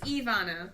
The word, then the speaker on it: Ivana: Is it Ivana or Ivana? It is Ivana.